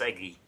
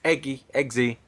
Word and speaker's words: Eggsy: plus Eggy. It's Eggsy, plus the statesman and the His Golden name's Circle. fucking. How'd you get Eggsy from that, please?